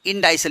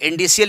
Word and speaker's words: indicial: तो आप लिखेंगे first of ऑल we write and इंडाइसल equation, INDICIAL equation. कुछ लोग इंडिसियल इक्वेशन कहते हैं, कुछ लोग इंडाइसल कहते हैं।